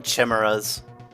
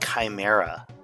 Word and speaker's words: Chimera: this video today I used to call them Chimas I know but it is pronounced Chimera yeah go figure but yeah as a kid